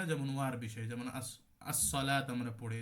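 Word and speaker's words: الصلوة: যে শুধু আলিফ না যেমন ওয়ার বিষয় যেমন আসসালাত আমরা পড়ি যে শুধু লাম উচ্চারণ হয় ওয়া টা উচ্চারণ হয় না এটা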